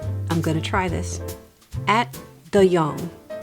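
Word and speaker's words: Ate de Jong: Directed by, I'm going to try this, At de Jong. It's a Dutch name. Okay. It is not how it's spelled, because I would say 8 de Jong, but I had to look it up.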